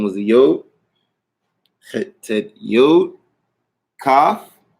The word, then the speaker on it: Kaf: Kaf. Pronounced with a K sound. And as you'll notice again, you see another dagesh, a dot in the middle, which will give it the K sound pronunciation, ka. Without the dagesh, all right? Without it, you get haf, another guttural sound like hit, haf, right? Like another CH type of sound.